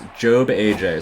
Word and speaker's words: JobbAJ: Yeah, Job, don't call him Job, by the way. Just figured I'd put the whole PSA out there for everybody. It's JobbAJ, so if we mispronounce that at any point, feel free to correct us.